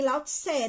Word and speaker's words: Lao Tzu: Eu já ouvi, não pronuncia o U, é um Ezinho mesmo. Lao Tzu.